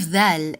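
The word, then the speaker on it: ذ: The sound of dhal is just like the sound of the in they and them in English.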